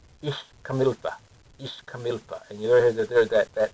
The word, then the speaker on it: Ixcamilpa: Ixcamilpa.